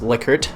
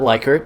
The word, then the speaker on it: Likert: of a Likert scale it is pronounced Likert according to the guy himself not like her as I used to say and in this